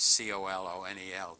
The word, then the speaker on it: colonel: As somebody said, no language is perfect that pronounces C-O-L-O-N-E-L, colonel.